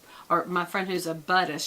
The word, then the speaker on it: Buddhist: It's just so ironic the way that whole, or my friend who's a Buddhist, she says it's Buddhism. I'm a Buddhist, not a Buddhist.